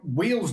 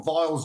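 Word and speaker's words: Weil's: You know, I mean like wheels disease or vials disease depending on how you want to pronounce it.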